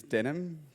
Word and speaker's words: Denham: My name is Denim, pronounced like the jeans.